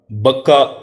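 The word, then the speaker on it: بكة: लिए वही है जो मक्का में है। बक्का और मक्का दर हकीकत एक ही लफज़ के लिए दो तलफुज़ या प्रोनाउंसिएशंस हैं। मुबारकम हुद आलमीन बरकत वाला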